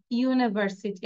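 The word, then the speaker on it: university: একটি বিশ্ববিদ্যালয় this is ইউনিভার্সিটি actually you ছিল অনেকে আমরা বলবো দিস ইজ অ্যান ইউনিভার্সিটি তাই না কিন্তু ইউর উচ্চারণ ইউর মত হয়েছে দেখে এটা এটা রুলস দিস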